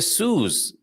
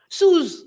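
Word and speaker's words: Suse: If you have an S between two vowels, then the pronunciation of that S is as if it was a Z.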